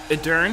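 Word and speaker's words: Edurne: Edern, that's how you pronounce her name.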